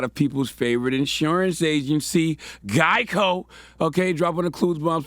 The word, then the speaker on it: Geico: and they chose the gecko because Geico had often been mispronounced as gecko.